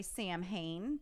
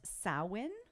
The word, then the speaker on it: Samhain: ancient Celtic festival of, I'm going to say Samhain, because that's what Sam and Dean on Supernatural called him. Then I'll do it too. But in this says it's pronounced Samhain. It's Sam, It's Hain.